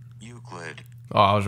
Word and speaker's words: Euclid: form of mathematics how do you say this you split i don't know is there like a pronunciation pronunciation euclid useless you ready this is freaking youtube that's what you say euclid oh i was right there that's what i